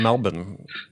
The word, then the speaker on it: Melbourne: So you're joining us from Melbourne. I pronounced that correctly, sir. Right? Melbourne, Australia. That's it. Yes. There's no R in Melbourne, despite how you see it spelled.